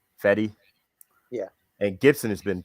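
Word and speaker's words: Fedde: Saturday, during the day, you got Gibson versus Feed, however you say his name. Fetty? Right. Fetty.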